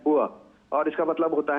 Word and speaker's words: bourse: ये जो आप बात कर रही हैं बोर्ड्स की, जिसे अंग्रेजी में BOURSE लिखा जाता है, लेकिन ये एक फ्रेंच वर्ड है जिसका उच्चारण है बुआ, और इसका मतलब होता है एक स्टॉक मार्केट, एक मार्केट प्लेस।